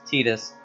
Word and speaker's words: Titus: the voice act himself is supposed to be pronounced tetus but he also says he really doesn't care how people pronounce it yeah but what about